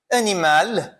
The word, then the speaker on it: animal: Outras consoantes que são pronunciadas no final, neuf, o F eu vou pronunciar, animal, eu vou pronunciar o L, com esse som do L, né?